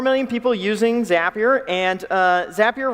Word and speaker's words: Zapier: We have over 4 million people using Zapier, and Zapier rhymes with happier.